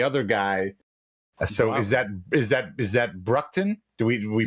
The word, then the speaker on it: Broughton: So is that Bruckton? Do we pronounce that Bruckton? Broughton.